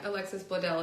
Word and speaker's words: Alexis Bledel: But especially I mean like every scene that Alexis Bledel, am I pronouncing that right? I should be, yeah, Alexis Bledel is in.